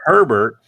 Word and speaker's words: Herbert: say that i think you pronounce the h it is not silent as in like pepper is an herb it is actually herbert and and the reason